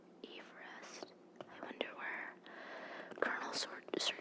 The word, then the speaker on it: Everest: Number 14 says, Mount Everest, named after Colonel Sir George Everest, should be pronounced Everest.